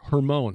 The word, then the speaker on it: Hermon: We're going to talk about Mount Hermon. Or Hermon, I just looked up the pronunciation.